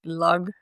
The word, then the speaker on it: Lagg: That's how actually you should say you say it in Finnish because you just read how you say it's like log.